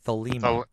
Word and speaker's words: Thelema: Head, it's the law of Thelema.